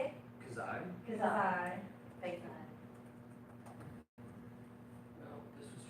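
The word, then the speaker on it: Khazae: Kazai.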